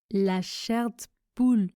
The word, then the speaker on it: la chair de poule: Enfin, la chair de poule se prononce la chair de poule. Je ne prononce pas le E du mot de.